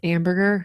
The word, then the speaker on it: Amberger: you got Josh amberger he is amberger that rhymes with hamburger but he is getting